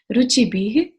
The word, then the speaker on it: रुचिभिः: सबसे पहले उच्चारण, पहली लाइन, यई शांत राग रुचिभिः, विसर्ग है तो ह का साउंड आना चाहिए, रुचिभिः परमाणुभिस्त्वम्।